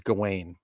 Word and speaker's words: Gawain: things he's playing now i'm going to say it like americans gawain i know they said it differently in the movie whatever but in this